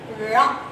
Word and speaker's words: ழ: எழுத்துக்கு பேரு சிறப்பு லகரம் இதை எப்படி நம்ம உச்சரிக்கணும் அப்படின்னு கேட்டீங்கன்னா மேல் அன்னத்தை நாக்க நல்லா உள்ள தொடணும் மேல் அன்னத்துல ஆனா தொடக்கூடாது நாக்கை வளைச்சு கொண்டு போகணும் நாக்க வளைச்சு கொண்டு போகணும் பட் மேல் அன்னத்தை தொடக்கூடாது ழ ழ சொல்லுங்க ழ வெரி